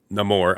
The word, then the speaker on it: Namor: said it both ways in a movie he pronounces it no more obviously but people also pronounce the name or and I'm just